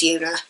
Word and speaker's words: Joona: it's yuck it's a it's a j it's pronounced like a y like youa anybody else who was watch these will know that I was calling him Juna for so long until